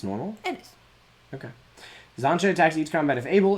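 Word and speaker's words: Xantcha: A rare Zancha Sleeper Agent. It is spelled X A N T C H A.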